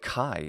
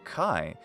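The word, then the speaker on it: χ: Greek consonants in fact the letter Kai is the aspirated version of Kappa it basically sounds like a Kappa plus an H sound K hand now you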